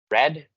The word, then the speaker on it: read: I read this Book read leer en pasado se pronuncia Exactamente igual que la palabra red el color así que esta palabra